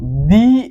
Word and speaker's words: the: এই যে ই তাহলে আমরা এখানে কি বলবো দি এগ হ্যাঁ দি এগ তারপর আমরা দি অনেস্ট